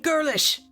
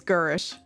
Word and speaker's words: Girish: some some lady named girlish girl no no sorry girish i said her last name wrong it's girish i say get